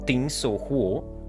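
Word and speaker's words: 钉子户: Existe até um termo em chinês que se pronuncia algo como Tin Sou Huo, que significa literalmente uma casa-prego.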